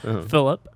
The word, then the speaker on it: Filup: Uh, my name is Phillip because we've only pronounced it weirdly, so I feel like I should say it normally. Yeah, it's spelled weird but said normal. Phillip.